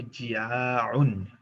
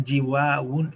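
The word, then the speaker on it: جياع: এবং সেটার বহুবচনটা হবে জিয়াউন, জিয়াউন, ফিআলুন ফরম্যাটে। এই ওয়াওটা ইয়াতে পরিণত হয়ে যাবে উচ্চারণের সুবিধার্থে, কারণ জিওয়াউন, জিওয়াউন বলাটা আরবদের কাছে কঠিন, এই কারণে এটাকে চেঞ্জ করে দেয়া হবে।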